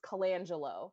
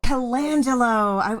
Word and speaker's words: Colangelo: hoard this is kalanjello am i saying your last name correctly you're close you get it sort of the way that my substitute teachers would pronounce it but it's colangelo calangelo i you know i